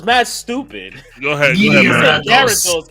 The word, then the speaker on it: Gyarados: for Poliwrath for fighting, Farfetch for flying, and Gyarados for water. But that's how it's spelled. It's mad stupid. Go ahead. Gyarados. It's Gyarados. That's how you spell it.